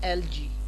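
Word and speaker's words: algae: एल्गा, biology में आपने पढ़ा होगा एल्गा, तो उसका प्लूरल है एलजी।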